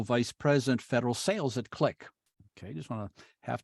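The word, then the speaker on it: Qlik: vice president federal sales at a company called click q-l-i-k most people have heard of it but I have to spell it out so they can go to the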